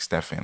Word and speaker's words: Stephen: the ziata in and Stephen is spelled like Stefan like Stephen Curry um and we have